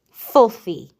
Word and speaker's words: filthy: f f e filthy remember the letter Y can make three different sounds it can sound like y it can sound like e and it can sound like I so in the word filthy it sounds like e for injection which is